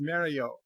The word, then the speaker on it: Mario: The original Italian pronunciation is Mario.